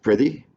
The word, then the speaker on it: prithee: Okay, the generally that's pronounced prithee. That means I pray thee.